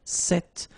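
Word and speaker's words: cette: if you listen carefully the masculine form here set and The Feminine form here set you write them differently but then you pronounce them the same way all right for the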